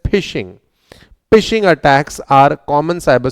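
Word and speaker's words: phishing: इट्स नॉट फिशिंग। It's just like फिशिंग बट इट is pronounced as फिशिंग।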